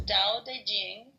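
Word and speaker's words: Tao Te Ching: is his best reward da Ching pronounced more or less da Jing can be translated as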